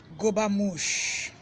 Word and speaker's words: Gobermouch: Now, first one is gobamush. And I'll spell them now, but I'll be putting them up on my Facebook page later on, but I just listen to them. Gobamush is spelled Gobermouch.